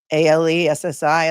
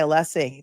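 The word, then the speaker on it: Alessi: I mean, Allessie is not a hard name to pronounce. It's, you know, phonetic, right? I mean, it's al e ssi. Allessie, it's easy. There's not an extra e in there.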